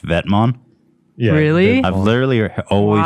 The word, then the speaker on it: Vetements: It's a Vetmon. Oh, it's called pronounced Vetmon? Yeah. Really? I've literally always heard people call it Vetements.